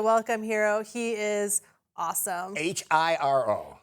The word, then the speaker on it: Hiro: H I R O H I R O but pronounced Hiro.